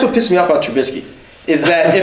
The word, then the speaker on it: Trubisky: The issue with Trubisky. No, you said it right. Trubisky.